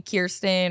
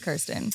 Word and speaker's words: Kirsten: Like everyone who calls me Kirsten or Kristen, I'm like, excuse me, it's Kirsten.